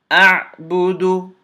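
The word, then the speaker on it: أعبد: Hamza fatha ayn sukoon a. Ba dhamma bu. A'bu. Dal dhamma du. A'budu.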